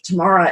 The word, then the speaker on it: Tamara: people pronounce it of Tamara, it sounds almost like tomorrow, like you're saying tomorrow quickly, which would mean that it's always out there.